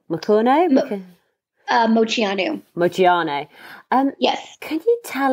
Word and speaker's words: Moceanu: Is it, how do I pronounce their name? Moceanu? Moceanu.